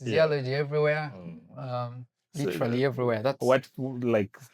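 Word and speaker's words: Ziyalogy: So So that's Z I Y A L O G Y.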